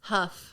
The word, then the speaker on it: Huff: don't pronounce it incorrectly Huff Huff yeah as it's spelled the double FS I know it's confusing